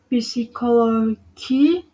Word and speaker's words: psychology: P is silent in the combination ps at the beginning of a word. For the example, psychology, pseudonym, psyche.